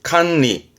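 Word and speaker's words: 管理: 수도관 발음은 스이도관, 스이도관. 이게 관리죠. 가장 많이 쓰는 단어입니다. 시험 때도 많이 보여주기도 하고 관리, 칸리, 칸리.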